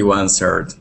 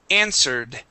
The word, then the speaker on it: answered: Yeah, she answered. Wondering where this was going. Okay, very good. Let's go to the word answered. Okay, the W is silent here.